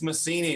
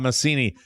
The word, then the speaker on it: Massini: Is it Maccini or Massini, doctor? It's Massini. You had the Italian pronunciation right, but my family changed it sometime. Massini.